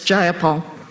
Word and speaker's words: Jayapal: Jayapal that there was no takeover? It was just Jayapal. peaceful? If you're going to say my name, please say it right. It's Jayapal.